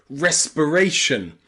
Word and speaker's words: respiration: Finally, we have I and R pronounced as the schwa in words like confirmation, confirmation, or respiration. In confirmation and respiration, it's pronounced as a schwa because it is not stressed. Remember, the schwa sound is never stressed.